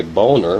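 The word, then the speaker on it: Boehner: afternoon house Speaker John a boner and his name is spelled b OE h n r republican of Ohio told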